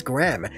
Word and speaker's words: Graham: that's what i heard but no it is gram g-i-r-a-m gram like 30 grams 40 grams and so now hearing them pronounce graham as gram it just explains that